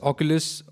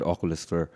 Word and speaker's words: Oculus: Oculus, is that how it's pronounced? Oculus, yeah.